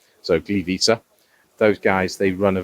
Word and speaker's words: Gliwice: It's called GTW Gliwice, which is Gliwice. Obviously, W in Polish is pronounced V, so Gliwice.